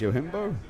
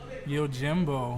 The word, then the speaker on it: Yojimbo: John Michael, Nasimiu, and is this pronounced Yohimbo Oh. or Yojimbo? Yojimbo.